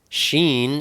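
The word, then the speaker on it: ש: next we have sheen sheen is the number 300 and it's pronounced sh like shim it's the picture of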